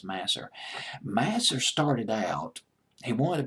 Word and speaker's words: Masser: again a guy named Michael Masser or was it Mazur master I'll just pronounce it as mas'r mas'r started out he